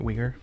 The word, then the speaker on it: Uyghur: Is that right, Uyghur? I don't know how to pronounce it.